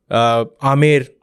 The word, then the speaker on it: आमेर: ये कहना बिल्कुल गलत होगा कि बीकानेर, जोधपुर, आमेर, जो स्टेट का करेक्ट प्रोनाउंसिएशन इज आमेर, यानी कि जो जयपुर